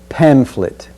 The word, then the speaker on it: pamphlet: this sentence is pamphlet notice the ph creates the sound of f pamphlet the next key word